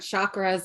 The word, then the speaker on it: chakra: it's pronounced chakra oh like ch cha most people say it as an sh like shock i'm going to do